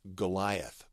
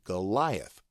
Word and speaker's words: Goliath: to the pronunciation key ye is pronounced as the Y in sky sky gai and then